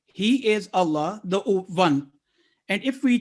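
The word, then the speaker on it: الله: is divine word of allah as always pronounced is always pronounced with thick or heavy sound if preceded with a letter carrying fatha or dhamma and it is pronounced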